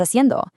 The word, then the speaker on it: haciendo: The Spanish, ¿qué estás haciendo? Just a quick reminder of our rule from earlier that H at the start of haciendo is totally silent to the ear.